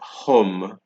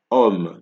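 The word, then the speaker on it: homme: we have um right note that it's not home it is um because you're only pronouncing from the o right the H is silent here you have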